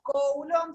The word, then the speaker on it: Coulomb: Se escribe Coulomb, se pronuncia Coulomb en realidad, pero suena medio feo.